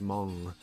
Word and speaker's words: Hmong: comes weightily up h hmong it's pronounced mom I don't know how